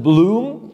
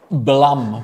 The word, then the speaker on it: Blum: pronunciation the name is Blum with a kind of a a Blum as in Plum like PL Plum or